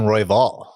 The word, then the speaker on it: Royval: everything else uh let's go Brandon uh Brandon royval Brandon Roy all right so well I mean